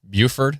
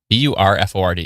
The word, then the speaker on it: Burford: Buford. How do you pronounce it, Marcos? Let me know. B U R F O R D.